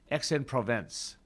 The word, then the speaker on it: Aix-en-Provence: a side trip, and I know I'm not pronouncing this correctly, Aix-en-Provence. And that's spelled, let me think about this for a moment, AIX space Provence. And I'm not even attempting to pronounce it in the French way.